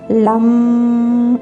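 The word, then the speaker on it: लं: அதை நீங்கள் ப்ரொனவுன்ஸ் பண்ணுறது கூட எப்படி பண்ணணும் அப்படின்னா, லா அப்படின்னா சொல்லி பாருங்கள், உங்களுடைய நாக்கு வந்து மேலே போய் தொடும். ஸோ அந்தளவுக்கு அழுத்த திருத்தமாக கரெக்டாக உச்சரிக்கிற மாதிரி சொல்லணும். லம் அப்படின்னு சொல்லிட்டு அந்த இம்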